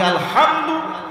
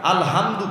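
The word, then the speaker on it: الحمد: আর আপনি আলহামদু এই বিশুদ্ধ উচ্চারণ বাদ দিয়ে যদি আপনি আলহামদু পড়েন তাহলে এই হামদুন শব্দের অর্থ হচ্ছে ধ্বংস।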